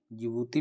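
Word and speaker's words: Djibouti: और डी फॉर जिबूती जिबूती में D silent रहता है इनको कहते हैं हर्न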